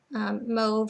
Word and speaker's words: mauve: it was painted an awful moe or mauve color depending on how you say it and everything cabinets ceilings